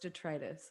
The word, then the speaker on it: Detritus: my new solo album pronounced in english which is the language that i speak arthritis but for some weird reason in my mind it was detritus and i think that's the weird accent of me knowing it as a french word yeah oh it's pronounced detritus okay so i was mispronouncing classic me because i also